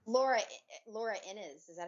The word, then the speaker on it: Innes: It's Laura Innes. Is that how you pronounce her name?